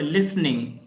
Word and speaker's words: listening: Please improve your pronunciation of the word listening. इसमें T को pronounce नहीं करना है. Listening नहीं बोलना है इसे.